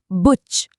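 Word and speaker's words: Buch: पहला शब्द है बुच। उ के बाद च है तो यह बना बुच।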